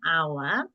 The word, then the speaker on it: hour: but we say an hour so use n for so we use n before our because the H is silent next up we have